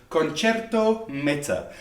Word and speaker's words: Concerto Meta: I said Concerto Meta because I said I didn't have my fancy hat on, but apparently you pronounce it Concerto Meta.